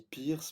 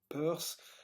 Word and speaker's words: Peirce: Alors, Peirce, P-E-I-R-C-E, hein, parfois on dit Pierce, mais il semble que la prononciation correcte de son nom de famille c'est Peirce, le pionnier de la sémiotique aux États-Unis.